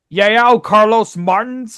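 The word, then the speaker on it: João Carlos Martins: And the performers were the National Symphony Orchestra and Yao Carlos Martins, I think is how it's pronounced.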